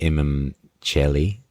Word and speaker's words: Imum Coeli: you know the immi am I pronouncing that right? I mean dead language Latin anyway right but am I saying that right? Some say it as chel. Oh chelli. Okay. Yeah. So the imam chelli.